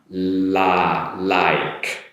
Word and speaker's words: like: So tongue position behind the upper teeth, make the L sound. Like. So you get your la, make an E sound, like, and then followed with a K sound. E is silent, like. Right here. Ever so slightly, not so strong, like.